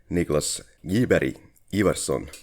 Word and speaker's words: Niklas Gyberg Ivarsson: And our guest, most importantly, is Niklas Gyberg Ivarsson.